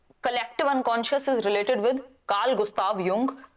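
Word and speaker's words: Jung: Collective unconscious is given by Karl Gustav युंग, जिनको लिखते हम जुंग है, बट जो प्रोनाउंसिएशन है वो युंग है।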